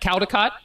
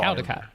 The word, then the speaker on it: Caldicott: Like, there's no, it's Cal, like C-A-L, but they say call.